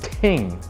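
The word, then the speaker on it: 听: you in Mandarin the word for listen is pronounced ting and it's a Chinese symbol that has five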